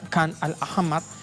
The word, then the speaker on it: Khan al-Ahmar: Los colonos israelíes del asentamiento ilegal de esta zona palestina inundaron la localidad de Khan al-Ahmar, la pronunciación, ahí está, Khan al-Ahmar, con agua de alcantarillado.